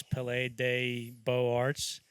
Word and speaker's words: Palais des Beaux-Arts: I purposely didn't look up or tell you how to pronounce Palais des Beaux-Arts.